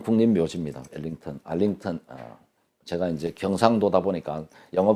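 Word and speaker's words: Arlington: 이게 이제 미국의 엘링턴 국립묘지입니다. 알링턴 제가 이제 경상도다 보니까 영어 발음은 여러분들이 좀 감안해서 들어주시기 바랍니다.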